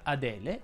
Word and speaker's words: Adele: ovviamente solo la seconda si pronunciano con la è aperta sia adele che agnese in elio la e